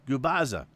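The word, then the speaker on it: Gubicza: No matter how many times we said it was gaza, it's goubbaza. And like you're opening up a popping open a jar of spaghetti sauce.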